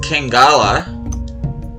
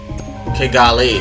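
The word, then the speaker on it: Kigali: Capital of Rwanda is Kangala or K. No. No, it isn't. Kegali.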